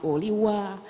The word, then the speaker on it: Holiwa: you know you know a team like holiwa which i've been told is pronounced oliwa uh those are very